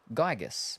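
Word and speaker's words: Giygas: Pronounce Gygus, by the way. Gygus. Gotcha. Gygus. Similar to Gaia.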